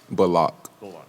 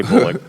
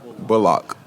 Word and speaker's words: Bullock: would you mind sharing the proper and preferred pronunciation of your last name? My name is Reggie Bullock. Bullock. I'm sure you've heard people say Bullock, but Bullock.